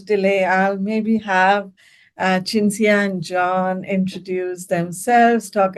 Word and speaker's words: Cinzia: the day um so um so I have chinia and pavani um am I pronouncing your name correctly uh yeah okay good